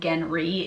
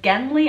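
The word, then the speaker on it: Genly: this book call him genry if they call him by his first name because they can't pronounce elves so so i'm just like is it gently or is it genry okay it's gently i and he's from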